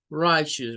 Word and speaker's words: righteous: right shoes acts well righteous remember that pronunciation for this is for two syllables the first part is right and the second part is gonna be shoes it's come from the